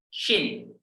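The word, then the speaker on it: شين: Sin, shin. Sin, shin. Kalau tidak punya titik namanya sin biasa, S lah kalau dalam bahasa Indonesia. Sedangkan kalau dia punya titik 3 namanya shin. Ya, shin.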